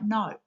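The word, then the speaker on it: gnaw: your mobile phone cord G is the silent letter in no words that have silent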